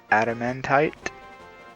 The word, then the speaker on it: adamantite: to pronounce it right the the adamantite i believe is the pronunciation it is a